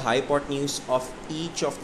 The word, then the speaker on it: hypotenuse: This is the spellings and this is the pronunciation. हाइपोटेन्यूज we call that longest side is हाइपोटेन्यूज.